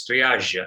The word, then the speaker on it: triage: So the entire concept of triage center, firstly, it's pronounced as triage. It's a French word, but of course, the whole idea is an evaluation matrix through an algorithm. So that's how the hospitals operate. Normally, triage would very simply mean